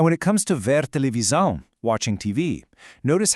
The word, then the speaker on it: televisão: In European Portuguese, whenever an S sits between two vowels, it makes a really distinct Z sound. So it's pronounced televisão.